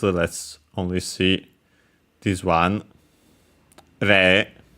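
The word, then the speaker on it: 零: Re is the Japanese pronunciation for zero.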